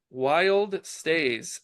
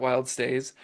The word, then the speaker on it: WYLDSTAY: the word wild and it's actually wild stay not wild stays but um Gary it's